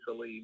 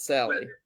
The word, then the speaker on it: Salih: How you pronounce my last name is actually Salih, but Salih. Okay, Salih, not Sally.